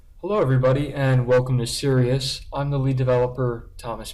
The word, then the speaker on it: Sirius: Hello everybody and welcome to Sirius. I'm the lead developer, Thomas Ballas. So what is Sirius? Well, the name itself is the phonetic pronunciation of the original project name's acronym. It started out as SRS, which stood for the Steganographic Relay System.